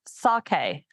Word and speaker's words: sake: Sake. That's how you pronounce.